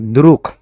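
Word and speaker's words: друг: লাস্টে আছে গে বাট এটার উচ্চারণ হবে এখন ক এর মত দ্রুখ আবার দেখেন পরেরটা আছে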